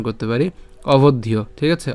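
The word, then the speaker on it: অবধ্যো: করব অভদ ইয় তাহলে এটা পুরাটা আমরা একসাথে উচ্চারণ করতে পারি অভদীয় ঠিক আছে অভদীয় এরপরে যে এখানে যে অর্ধমাত্রা হচ্ছে আছে সে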